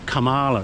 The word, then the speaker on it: Kamala: I always want to emphasize that first syllable, Kamala. It's not, it's Kamala.